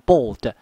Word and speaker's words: bald: ，一个叫 bald，这个念成短音的 O，念成 bold， bold 就是秃